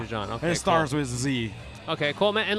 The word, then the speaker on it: Z: dude, so people listening, it's Z, right? That's how you say Yes, it? Z. Okay, I don't want to say it wrong. Oh, it's okay. I'll not count it as that, but it's Z. It's just short for my Chinese name.